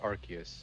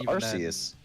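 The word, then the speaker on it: Arceus: I I'm just going It's just Archus. It's just Archus though. Yeah. Um yeah. Yeah. I thought it was Arus.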